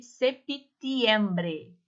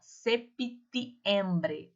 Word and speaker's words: septiembre: Nós temos o mês de septiembre, ó, septiembre, tá? O P, ele é mudo, mas eu pronuncio.